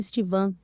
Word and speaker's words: Stephen: Ela foi mãe de 4 de seus 12 filhos, 2 deles adotados, os renomados Iggy e Stephen Marley, pronuncia-se Stevan, que continuam o legado musical de seu pai na banda Melody Makers.